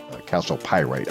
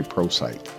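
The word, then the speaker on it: chalcopyrite: Calcopyrite. I always want to say prosite, but it's calcopyrite. I think that's how you say it.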